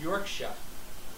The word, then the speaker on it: Yorkshire: And Crowe says, I know it's the American way, but Yorkshire is pronounced Yorkshire.